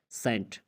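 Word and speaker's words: scent: कहते हैं कि अगर किसी लफ्ज़ में सी से पहले एस आता है तो सी हमेशा साइलेंट हो जाएगा। जैसे आप कहते हैं सेंट, सेंट लिखने में क्या है? SCHENT, जब एस है उसके बाद सी है, लेकिन यहाँ पे सी को खामोश साइलेंट पढ़ा जाता है।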